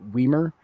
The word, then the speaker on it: Weimer: Well, in actuality, Weimer is a German name, and the just for folks who know anything about German, is that usually the pronunciation of the long vowel on, or the long vowel on something like that, is usually the second vowel. That's why I pronounce it Weimer.